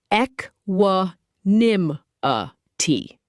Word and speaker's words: equanimity: Pronounced eck wuh nim uh tee.